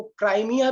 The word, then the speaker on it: क्रीमिया: Ukraine से सटा हुआ एक हिस्सा है जिसको कि क्रीमिया कहते हैं, कई लोग उसको क्राइमिया भी प्रोनाउंस करते हैं।